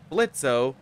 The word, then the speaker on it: Blitzo: CEO Blitzo, the O is silent.